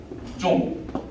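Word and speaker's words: 钟: 그래서 이거를 쭝쭝이라는 일성이거든요. 중국 발음으로 쭝 이러면 따쭝 큰 시계를 얘기해요.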